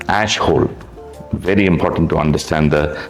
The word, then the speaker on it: Ashhole: More importantly, uh you're right when you said pronounce it right. Ashole.